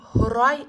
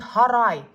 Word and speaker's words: хурай: Мои корни хурай спрашивают. Можно сказать во множественном числе хурайдар, но здесь сокращенное. Хурай спрашивают. Если произносить через а, это будет харай, то есть сарай.